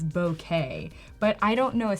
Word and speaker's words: bokeh: I heard the real way you're supposed to say is bokeh, but I don't know a single photographer that Yeah, says bokeh.